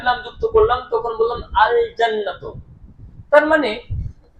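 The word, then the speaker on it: الجنة: আর কিন্তু যখন আল জান্নাত শব্দটি লিখছি তখন দেখতে পাচ্ছি আল জান্নাতু লামটা উচ্চারণ হচ্ছে।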